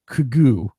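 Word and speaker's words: Quiogue: made that up I no dude it's Q UI o g u e kugoo let me see no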